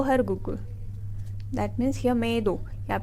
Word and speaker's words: मेद: द मेद धातु is written as मेद. We have to pronounce it as medo.